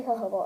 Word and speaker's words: jojoba: Jojoba oil is, it's spelled jojoba oil, but it's actually jojoba oil, and it's similar to the oil that your skin makes, so it's actually really good for your skin.